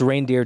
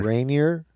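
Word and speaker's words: Reinier: It's Reindeer De Ridder. Reindeer De Ridder. Rainier De Ridder.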